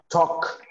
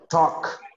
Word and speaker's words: talk: one is kind-- negative something happens here with these with the pronunciation of this verb let me see I'm gonna write here for you so that we can see so we have work walk the pronunciation is like this walk walk the same happens with talk talk the most walkie-talkies